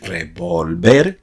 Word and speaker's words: revolver: es el verbo revolver, haciendo el acento prosódico en la última sílaba, es decir, revolver, no revolver, con lo